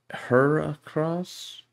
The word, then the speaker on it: Heracross: hercules uh rhinobito okay so it's hera it's hera as in hercules as in hercules okay heracross hera cross okay that's